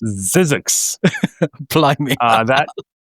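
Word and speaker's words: Zzyzx: There's a place called ZZ YZ X Zizzix. Apply me. uh that it's not it's pronounced Zizzix even though it's not spelled Zizzix.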